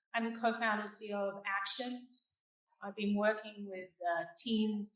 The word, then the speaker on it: Axioned: Axioned is pronounced Axioned.